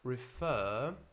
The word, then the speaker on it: refer: Refer, refer, refer. Now, in British English, we don't pronounce this final R. In American, you would.